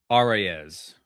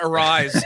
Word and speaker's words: Arraez: Arraez Arraez Oh, it's not arise.